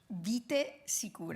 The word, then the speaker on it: Vite Sicure: So how do you say it? Vite Sicure. Vite Sicure.